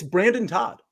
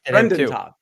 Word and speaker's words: Brendan: raphael campos argument um no it's it's brandon todd i say always say i like it brendan todd brendan brendan i said it wrong last time i think brendan todd